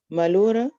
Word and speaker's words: melhora: O que Fatores, melhora a sua dor? A sua dor. A sua dor. Mhm. fatores atenuantes. Mhm. O que melhora a sua dor. Yes. Melhora, I pronounce it right?